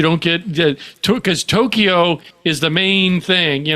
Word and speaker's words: Tokyo: get that to because Tokyo is the main thing, you know. Oh, there's a one uh in there's only two syllables, Ed. Tokyo. Tokyo. No e in the middle.